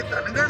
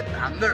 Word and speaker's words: धांगड: नाही आणि असलीच तर ते धनगड नाही तर ते धांगड आहे हा उच्चार जरा नीटपणे समजून घ्यावा याच्यात स्पेलिंग जे आहे ज्या पद्धतीचा आहे त्याचा उच्चार धांगड आहे धनगड नव्हे पण या लोकांनी अत्यंत